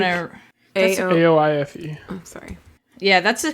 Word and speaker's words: Aoife: A-O-I-F-E. Oh, sorry. Yeah, that's a common Irish name pronunciation. Is it Aoife?